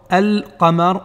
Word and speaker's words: al-qamar: Eh bien, lorsque le lam contient un soukoun, on doit le prononcer comme dans al-qamar ou bien al-jinnati.